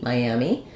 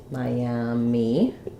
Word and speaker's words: Miami: the city Miami um so here we have uh three syllables first syllable is stressed we have the I dip thong like the word my I'll write it that way or you can think of it like my like in might um and then we have the a black cat vowel for the letter a and then we have the e sound um oops Miami for